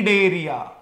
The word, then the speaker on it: Cnidaria: का नाम है फाइलम डेरिया सी द स्पेलिंग मैंने आपको कहा था कि सी लिखेंगे पर प्रोनाउंस नहीं करेंगे सी इज साइलेंट ठीक है तो ये